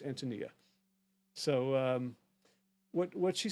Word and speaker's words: Antonia: Antonia Demas on overhauling food education. Actually, her name is pronounced Antonia.